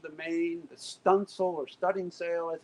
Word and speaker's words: studding sail: the leech of the main the stencil or studding sail as it's felt but pronounced stunsil is off to the windward side of the